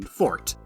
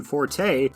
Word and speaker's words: forte: is insanely clever because they use the rare classical pronunciation Fort which is technically more true to its atmology but if he had simply used the common casual pronunciation Forte it would have